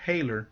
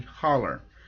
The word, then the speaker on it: Holler: And I made the mistake. I pronounced it Hailer. It's actually Holler.